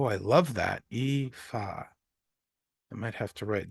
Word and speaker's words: Aoife: My name is pronounced Aoife. Oh, I love that. Aoife.